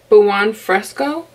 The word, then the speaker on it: buon fresco: color I'm gonna be going in with buon fresco that's how you pronounce it all right here I